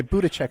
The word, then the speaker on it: Buttigieg: I've never heard it pronounced. Yeah, Buttigieg, I think.